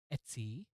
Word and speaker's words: etc: ETC can also be pronounced as etsy.